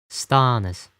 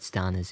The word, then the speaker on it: Stonas: How do you think this is pronounced? Stonas. Right? I hope you said Stonas.